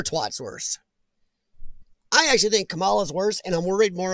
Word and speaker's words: Kamala: Kamara. Oh my gosh, I said her name wrong.